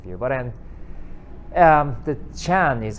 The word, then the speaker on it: Chan: philosophical point of view but then um the chan is how it's pronounced with the same letter sun in korea